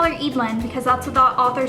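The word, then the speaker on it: Eadlyn: it is the character's name I thought was Adeline for the entirety of me reading the book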